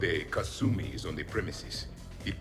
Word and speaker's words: Kasumi: would not pronounce it that's like a very american way of pronouncing it i wonder if there's